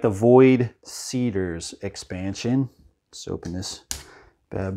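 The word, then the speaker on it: Void Seeders: next let's do the void seekers void seat cedars i always thought it was seekers jesus andrew uh void cedars okay yeah we're just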